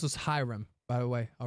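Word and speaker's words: Hiram: forward Professor kyahan um two hyam flam it's pronounced as hym by the way all right you guys are always correcting me I'm going to correct you all it's not ham it's hyam Sero two quest for three I I like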